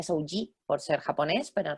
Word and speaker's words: Souji: con j que mucha gente en España lo pronuncia soui vale se pronuncia sji por ser japonés pero en realidad pues bueno